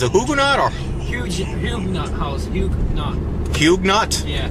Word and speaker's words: Huguenot: Huguenot. Huguenot? Yeah. It's kind of like new Dunkin' shoes. Donuts. Oh, that car. It's like new shoes. Like But huge knots.